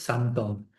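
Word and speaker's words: symptôme: Que es homofónica con la palabra síntoma en francés, ¿no? Entonces es santón. En un caso la palabra síntoma es con y p el acento circunflexo. Y en el otro caso se escribe sintome con i latina y h sintome, pero en francés es santom.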